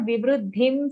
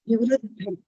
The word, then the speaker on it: Vivruddham: Only in the 11th shloka, not Vibruddhim Sattva, Vibruddham. Okay, Vibruddham Sattva Mityuta. Vivruddham.